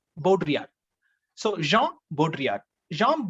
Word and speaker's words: Baudrillard: l a or d it's a french name that two l both are silent here baudrillard so jean baudrillard jean baudrillard was a critic and